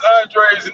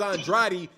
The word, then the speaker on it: Andrade: on uh mispronouncing demetrius andre's name man cause that dude's name is andrade and he doing some nigga-ish calling himself andre i don't know man